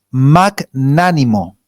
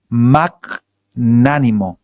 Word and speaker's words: magnánimo: la escucharon alguna vez magnánimo magnánimo con acento en la segunda Qué significa ser magnánimo